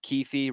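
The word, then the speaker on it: Kuithe: You might have, it's pronounced Keithy, right?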